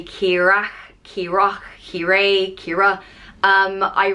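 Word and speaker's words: Keeragh: a g h on pronounced the same way Kira and again this can be pronounced differently all around Ireland and they could say Kira kirok kiray Kira um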